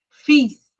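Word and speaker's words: fils: A pronúncia vai continuar igual no singular e no plural, mas nesse caso específico a gente não pronuncia o L e a gente vai pronunciar o S no final, tá?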